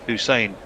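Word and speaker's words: Hussain: I do realize that short slower ball clever slower ball bouncer by Hussein pronounced Hussein.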